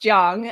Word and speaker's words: Chiang: that we have dr chang here um before we get before i continue was there anything else you'd like to share about yourself so my last name is actually pronounced jiang i know so sorry